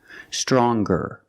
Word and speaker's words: stronger: the n Sound now what happens when we change young and strong to younger and stronger or the youngest the strongest when we change these adjectives with ER or with est we're going to pronounce the G sound the hard G so it's younger ger with a good sound stronger the youngest again with